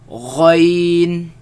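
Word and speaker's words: غ: Do not produce the nasal sound. Ghain.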